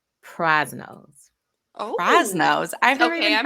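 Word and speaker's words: Prasino: times a month i don't know if i'm pronouncing it right but it's actually in saint charles missouri and it's called prize nose oh ross nose okay i'm writing this down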